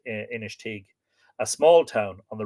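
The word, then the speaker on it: Inistioge: his cheek inish teague it's spelt i-n-i-s-t-i-o-g-e i think that's pronounced initig a small town on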